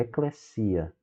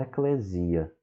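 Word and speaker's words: eclésia: quando ele aparece só um S, ele sempre vai ter som do S duplo no português, o SS. Então é eclesia, não eclesia. E há alguns que dizem eclesia, com uma ênfase aí na sílaba final.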